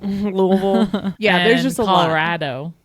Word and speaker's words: Louisville: They say Salida instead of Celita and Lewisville instead of Louisville. Louisville.